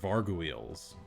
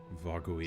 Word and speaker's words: Vargouille: They are Varguiles. I hope I'm pronouncing that right. Like gargoyles, but with No, it's Vargouille. Varguile. so actually kind of like gargoyle. Yeah, but with kind a of.